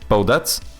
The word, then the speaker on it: Bodette: Bodette. Oh, so you do pronounce the T. Interesting. Thank you. Just Bodat.